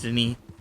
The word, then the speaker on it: Denis: His name is spelt the same way, but it's pronounced Denis Oh wow.